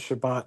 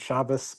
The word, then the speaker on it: Shabbat: Another thing is also I've always been confused why the Ashkenazi pronunciation, which is really more of a Haredi Ashkenazi pronunciation of the Tov as an S is so popular. I mean, in my opinion, it's pretty obvious the biblical canon has always treated Shabbat as Shabbat, not Shabbos.